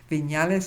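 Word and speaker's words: Viñales: to a place called V deales which means viales Val viales is spelled v as in Victory I that's the N with the little on top of it a l s Valley of balis and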